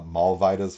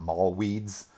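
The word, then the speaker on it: Mollweide: this would be a mall vidas formula right here um not mall weeds um you americans out there that w would be pronounced like a v and like a vida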